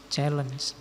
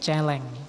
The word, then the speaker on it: challenge: selalu bersifat khusus, selalu penting, selalu menantang, challeng, challenge. Saya dulu ada teman yang bacanya bukan challeng tapi celeng. Iya.